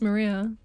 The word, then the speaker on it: Maria: Her name is written, of course, it's pronounced Maria.